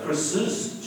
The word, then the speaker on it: Chris's: However, because the second S is pronounced, example, we say James's pen, we don't say James' pen, we say Chris's chair, we don't say Chris' chair.